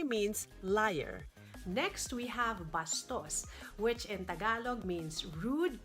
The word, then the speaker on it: basto: Next, we have bastos, which in Tagalog means rude, crude, or vulgar. The word in Spanish is actually basto without the S and with the accent on the first syllable.